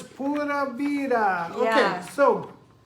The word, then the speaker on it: pura vida: The U in Spanish is never like Y-U. The U is always U, so it's pura vida. It's not pura vida. And then the R is supposed to roll it a little, but you can